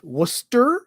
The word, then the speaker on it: Worcester: Worcester, I'm going to guess, because that's the way we pronounce it out east of the U.S.